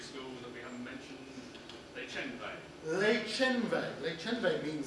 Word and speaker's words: Les Chenvets: And the other secondary school that we haven't mentioned, Les Chenvets. Les Chenvets. Les Chenvets means something. I wonder if anyone knows what Le Chenve, that's the proper pronunciation, by the way. Anyone know what Le Chenve means?